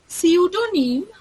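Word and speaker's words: pseudonym: সিউডোনিম, ওখানে সেকেন্ডে যেটা সিউডোনিম লেখা রয়েছে, এখানে পিটা হচ্ছে সাইলেন্ট থাকে।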